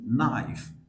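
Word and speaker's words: knife: right যেমন কে এন তাহলে সেই ক্ষেত্রে কে উচ্চারণ হয় না যেরকম আমরা বলছি নাইফ নাইফ এখানে কে আর এন পাশাপাশি আছে সে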